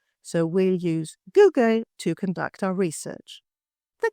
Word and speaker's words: Google: The company Google, pronounced as Google, not Goggle. So we'll use Google to conduct our research.